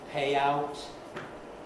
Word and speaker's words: payout: off stressed on the first to take to pay out is a phrasal verb accented on our payout